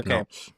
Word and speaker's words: Badenoch: So, with Keir Starmer, our current Prime Minister, and Kemi Badenoch. Is that how I said it right? Yeah, okay, Badenoch. yeah, Badenoch.